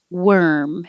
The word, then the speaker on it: worm: warm and 13 is worm it looks like an or but it sounds like an er so you can think of were where were you worm and just close your